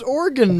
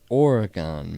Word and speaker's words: Oregon: Who is organ man? Oregon man who quit his job to set sail on the seven seas. Yeah. You hear how stupid it sounds when you pronounce it organ?